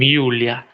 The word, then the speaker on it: Yulia: So the sounding of this letter goes with like you, like in the case of girl's name Yulia, because we don't have Julias in Russia. They are called as Yulia.